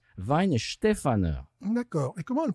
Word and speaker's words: Weihenstephaner: Alors en français, ça fait Y en Stéphane. Y en Stéphane. D'accord? Non, c'est Weinstefaner.